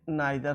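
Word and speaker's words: neither: से अधिक के लिए, ये नाइदर हो जाएगा, इसको हम नीदर भी प्रोनाउंस करते हैं।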